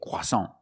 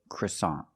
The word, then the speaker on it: croissant: In American English, we do not say croissant. That's French. In English, American English, we say croissant.